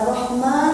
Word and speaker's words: Rahman: nanti di hadis selanjutnya rahmannya nya mesti panjangnya ini panjang. Nah, rahmanirrahim. Karena rahman itu artinya maha pengasih.